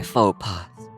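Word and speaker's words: faux pas: Note the s is silent.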